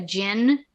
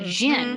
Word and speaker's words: djinn: what is it, a djinn? Yes. And so he's looking at Qurans, he's looking at history books, he's looking at other mythologies, researching a djinn, which they spell it Djinn, like jinn. Yes.